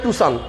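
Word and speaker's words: Tucson: যেমন এটা আসলে প্যাসো হ্যাঁ আমরা বলতেছি পাসো টাকসন গাড়িরে দেখেন কেউ বলে টুসান কেউ বলে টুকসান কেউ টাকসন ওইটার নাম হচ্ছে টুসান মূল অরজিনাল শব্দ প্রিয়াশ গাড়িরে আমরা প্রিয়াস প্রিয়াস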